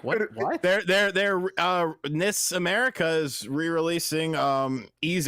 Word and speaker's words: NIS: I went to an actual in-person meeting with them, and they pronounced it NIS when I spoke to them.